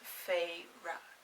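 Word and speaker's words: Feyre: and number two that her name is pronounced fei ra and that's it that's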